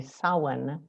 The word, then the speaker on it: Samhain: harvest festival it's spelled like this it um s-a-m-h-a-i-n and pronounced samhain it likely began in what is